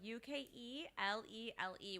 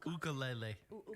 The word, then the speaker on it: ukulele: Gonna go UKELELE with a little like another acento. Wrong. The way they pronounce it is uka. Ukulele. It's UKULE.